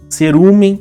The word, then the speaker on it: cerume: Cerumen, cerume, é o mesmo efeito. É pós-tônico, perde a nasalidade, perde o N, então ele fica com esse som oral, ele perde o caráter nasal.